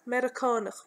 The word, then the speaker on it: Meiriceánach: To answer yes to this question, you say Iss Mer-ih-cawn-okh me. Iss Mer-ih-cawn-okh me. Or, the short version is Shah. Iss Eh. Commonly pronounced Shah.